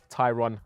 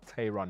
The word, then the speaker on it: Tayron: on the back but like I said it's pronounced Tyron not Tyron which I nearly did in the first place